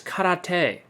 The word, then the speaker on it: karate: it's a martial art karate or as it's pronounced in japanese karate which means empty hand